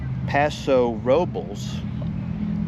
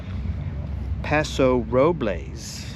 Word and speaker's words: Paso Robles: There are two main pronunciations. Paso Robels. This is the most common local pronunciation in the Paso Robels area. Locals often say it quickly almost like Paso Robels or Paso Robels. Robels. Paso Roblaze.